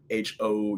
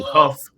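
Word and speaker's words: Hough: So, I'll give a shout out to uh to Huff High School. Um it's funny because it's spelled H O U G H so everybody sees it and they think I went to Ho High School.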